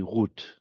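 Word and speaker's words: רות: So if you hear this in a synagogue being said or read or chanted, it'll be Rut. But linguistically, it was probably Ruth. And of course, in the English language, it's come in as Ruth.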